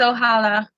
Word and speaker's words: Ohala: summer aubry for ohala i hope i'm pronouncing the title right ohala congratulations hello thank you yes it's ohala cool cool okay so